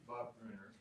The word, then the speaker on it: Bruner: My name is pronounced Bob Bruner. That's how it's spelled.